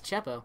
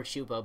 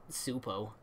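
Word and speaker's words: Csupo: q po - PO it's chapo well it could be pronounced chapo or shubo but it's not soup o rock what was the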